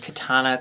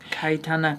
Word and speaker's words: Kitana: had batina Polaroid and Katana clette I'm sorry I'm saying it wrong Kitana clette they do not look